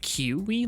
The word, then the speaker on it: Kiui: It's pronounced, like, Kiwi, like, ew.